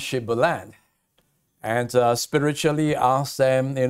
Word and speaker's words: Shibboleth: they say we can't they keep saying sibalan and despite the fact